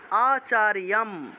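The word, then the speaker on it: আচার্যম্: হয় তাহলে দূরীয় ধনস্তদা আচার্যম জম আছে উচ্চারণ হবে ইয়ম অন্তস্থ জ থাকলে ইয় উচ্চারণ করতে হয় আচার্যম উপসঙ্গম্য এই যে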